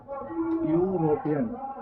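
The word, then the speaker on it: European: तो सबसे पहले आप इसका उच्चारण जब करेंगे तो ये शब्द आता है यूरोपियन। जैसे कि आप गौर कर पा रहे हैं, यहाँ पर मैंने यह लिखा है। भले यहाँ पर ये वोवेल लेटर है, लेकिन उच्चारण करते वक्त इस वर्ड का उच्चारण य आ रहा है।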